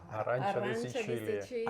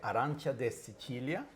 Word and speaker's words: Arancia di Sicilia: You know, the other one I love is, I'm going to try to say it like the Italians. Arancia. Arancia. Arancia. Arancia di Sicilia.